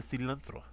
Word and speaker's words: cilantro: Our next is called the cilantro. Cilantro. That's right. Get a roll your R's.